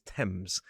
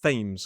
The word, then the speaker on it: Thames: Please remember that the river name is Thames. I've heard it pronounced Thames far too many times.